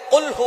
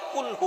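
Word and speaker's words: قل هو: রাব্বুল আলামন এখানে বলছেন কুলহু আল্লাহু আহাদ এখানে কফ দিয়ে পড়ছেন কিন্তু অনেকেই ভুল করে উচ্চারণ সঠিক না হওয়ার কারণে তারা পরে কাফ দিয়ে কুলহু আল্লাহ ক শব্দের অর্থ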